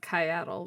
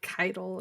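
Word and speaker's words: Caiatl: Well, okay, like Maddie, Mylan Games, and everybody firstly decided it was Kyaddle because there was like no determination on how it was pronounced. And then the trailer came out and they're like Keitel, and I'm like, where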